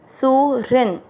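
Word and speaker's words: सुहृन्: पहला चरण सु के बाद में री, ह आधा है और ह के अंदर री से ऋषि की मात्रा है, HRI री, सु री, और री के साथ में आधा न सुरिन।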